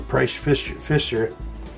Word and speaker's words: Price Pfister: It's a Price Pfister, that's how you pronounce it.